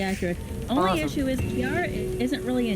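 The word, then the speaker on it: Ciara: Please By the watch way, they over pronounce her. her name with a hard C. Are they supposed to be doing that? So it's Kiara. Celtic languages, every C is actually secretly a K.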